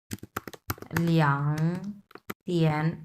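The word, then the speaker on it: 两天: ওকে, এরপরটা হচ্ছে লিয়াং তিয়ান, লিয়াং, এটাও 3 নাম্বার টন। হ্যাঁ, সো এটাও 3 নাম্বার টন, এটাও 3 নাম্বার টন, যার কারণে লিয়াং, এটা আমরা উচ্চারণ করবো 2 number ton. সো লিয়াং তিয়ান।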